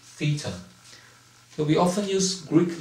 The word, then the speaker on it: theta: europe and it is pronounced as spelled as t-h-e-t-a and pronounced theta so we often use greek letter to represent